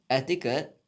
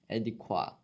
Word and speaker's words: adequate: Etiquette. Adequate. It's pronounced adequate though, not etiquette.